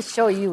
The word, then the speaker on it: shoyu: first okay here's our how come they say show you instead of soy sauce because that's the way aloh show you is spelled on the bottle I notice that sh